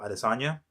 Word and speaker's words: Adesanya: this one, and I'm going to say Israel Adesanya.